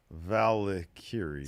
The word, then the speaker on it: Valkyria: Valkyria. See, MHJ makes a good point. Steve better learn to pronounce Lyra's name correctly if he wants in on those documentaries.